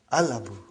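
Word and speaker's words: الأب: So without anything in front, I will pronounce it as Al-Abu. I will pronounce it as Al-Abu. So I did pronounce Lam.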